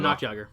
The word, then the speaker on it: Noctiaga: Oh, Noctiaga. Noctiaga. Not Tiager.